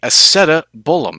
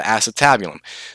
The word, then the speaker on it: acetabulum: this big depression or what we call the Isetta bull 'm as depicted right here that or some people pronounce that the acetabulum the Isetta bull 'm